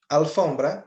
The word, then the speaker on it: alfombra: palavra alfombra significa tapete alfombra a sílaba tônica é F eu posso escrever la ou una Sim nesse caso eu posso porque apesar da palavra ter começado com a a sílaba tônica não é a é f a palavra ambre acabamos